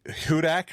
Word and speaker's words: Hudak: I have with me from Sunday Red, Charley Hudak. Is that right?